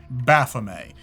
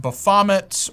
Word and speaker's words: Baphomet: that's how they pronounce in the movie okay Baphomet I've heard satanists pronounce it buffomet or Baphomet but I'm gonna go with how